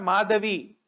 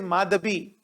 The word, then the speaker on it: Madhabi: please remember the name it is not madavi it is madhabi so madhabi i think she is from west bengal so in bengal they pronounced we they pronounce as b so she i i